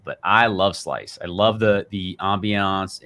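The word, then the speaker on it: Slyce: and you can literally buy a slice it's called s-l-y-c-e that's how it's spelled um but you can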